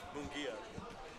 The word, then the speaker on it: Mungia: Mungia. Think of the moon.